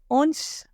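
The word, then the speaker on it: hanche: ध्यान रखने की है फ्रेंच में एच इज साइलेंट ओके हेप का स्टार्ट होता है स्पेलिंग है एच ए एन सी एच S where H is silent in French H इ साइलेंट ओके सो इट्स न एंड लास्ट बट नॉट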